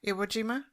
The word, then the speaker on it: Iwo Jima: omojima omojima is that how you say it iwojima omojima i can't say it right say it